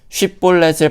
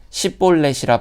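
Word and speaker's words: 쉽볼렛: 쉿볼렛을 발음하지 못하고 십볼렛이라 발음하는 이 에브라임 사람들을 찾아 죽이게 되는데 죽은 자가 42,000명이라는 어마어마한 숫자가 죽습니다.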